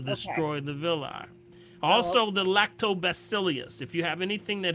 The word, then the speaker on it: Lactobacillus: Are you saying V or B? B is in boy, Oh.